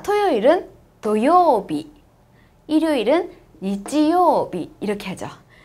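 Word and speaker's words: 土曜日: 뭐라고요 도요비 뭐 있지도 도요비 도요비 아니에요 여러분 회하 때 주의하세요 어 저 선생님이 제 제가 되게 여러 번 수업을 회화 수업도 많이 해 봤는데 이거를 토 도요비 제대로 발음하시는 분들이 별로 없어요 그러니까 여러분은 꼭 주의하셔서 도요비 아고 꼭 발음해 주세요 토요일이 뭐라고요 도요비네 잘하셨어요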